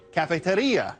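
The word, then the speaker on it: cafetería: If you were in a Spanish-speaking country, you'd pronounce it cafeteria, and it would be a coffee shop, not a lunchroom.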